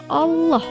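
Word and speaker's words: الله: Nah, ini ada lafaz Allah, sebelumnya ini ada huruf berharokat fathah, maka dibaca tafkhim juga atau tebal juga. Bagaimana contoh membacanya? Kita simak bersama. Illa ma syaa Allah, innahu ya'lamul jahra wa ma yakhfa.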